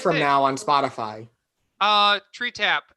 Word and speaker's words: Tretap: Tree Tap. It's spelled TRETAP. Tree Tap.